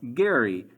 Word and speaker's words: Gerry: Elbridge Gerry but actually his name is pronounced Gary in fact it would